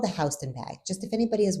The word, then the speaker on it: Houston: And the street that people not from New York call Hston Street, it's Houston. It's called Houston Street. It's Hston Street. It spelled like Houston, but it's Hston.